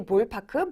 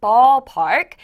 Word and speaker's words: ballpark: In Korean we say 볼파크, but ballpark.